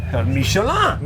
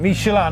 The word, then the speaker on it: Michelin: How do you pronounce that? Michelin. Michelin, not Michelin.